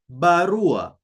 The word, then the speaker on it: barua: A, as in the English word but. You see? But. So that A. An example is in the Swahili word barua. Barua. You see, there is the sound A.